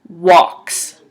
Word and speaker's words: walks: is what ah walks so even though there's an L in there you would say it like this walks and again he goes